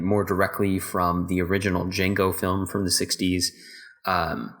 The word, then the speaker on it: Django: uh jamie foxx says the d is silent he's like i know